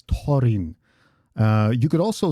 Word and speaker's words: Thorin: I don't say Thorin, but Thorin, because there's no th sound in Dwarvish. So the typical English th sound doesn't exist in Dwarvish.